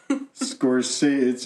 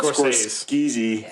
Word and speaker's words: Scorsese: Maybe s c o r s c s c e s e scor it's it looks like it's spelled skezy scores but it's scori